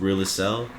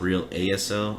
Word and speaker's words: REAL ASL: too i personally wanna the whole thing is really cell that's how you pronounce it it's not real asl i'm just trying to say we're really sell